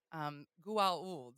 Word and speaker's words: Goa'uld: Goa'uld. There's an A in there. Emma's last name is spelt with Ould, so it's missing the A, but it's very, very close to this Goulds, right?